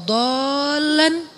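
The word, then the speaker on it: ضَالًّا: Alam yajidaka yatiman fa'awa wa wajadaka dolan dol. Kenapa dol itu kayak panjang bacanya? Karena sesat jauh gitu kan ya.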